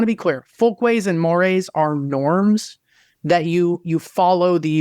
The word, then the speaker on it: mores: help you in differentiating between a folkway, a more, and thank you for bringing up that it's spelled MORES, and then a taboo.